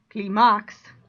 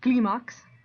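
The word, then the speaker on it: clímax: stress on the eye because typically it would be climax and it's not it's gleamox so the eye gets the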